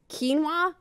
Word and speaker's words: quinoa: been saying that WR me too the I've pronounced so many of the like new healthy foods wrong quinoa I was I always saw it in a